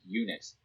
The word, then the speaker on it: Unix: operating system where it be named unix phonetically eunuchs for being a castrated multics yo i don't understand